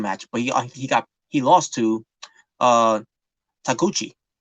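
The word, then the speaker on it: Taguchi: Not only he lost the match, but he lost to Takuchi. Takachi. Takuchi. Yeah. Ryusuke Takuchi. Sometimes I keep pronouncing his last name wrong sometimes.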